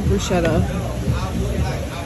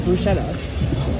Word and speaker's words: bruschetta: I'm gonna get the bruschetta. The what? The bruschetta. Bruschetta. Chutzi. You can pronounce. Where is the air? Where is the? It's still the same bruschetta.